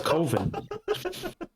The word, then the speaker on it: Coven: I'm like, well, coven sounds like oven, so it's coven.